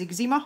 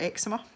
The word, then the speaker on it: eczema: itchy skin, and it turned out it was eczema or eczema, depending on how you want to pronounce it.